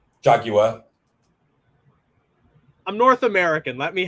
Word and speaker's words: Jaguar: You got Jaguar. Jaguar. I'm North American. Let me have it. No, Jaguar.